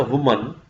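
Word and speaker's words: women: This is अ वुमन, इसको pronounce करते हैं वुमन। अगर प्लूरल हो तो कहते हैं विमेन।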